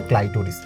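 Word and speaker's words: clitoris: উচিত ওকে okay so আই উচ্চারণ করবো আমরা সো এটা হচ্ছে ক্লাইটরিস এটা মেডিকেলে আসছিল সো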